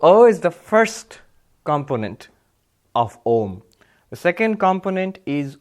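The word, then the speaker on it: ॐ: So, A and U, when you pronounce one after the other, together they make the Sanskrit letter O.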